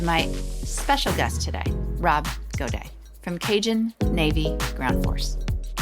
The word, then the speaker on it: Gaudet: I said, Rob, how do you say this? And he said, no, Amy, it would just be Gaudet.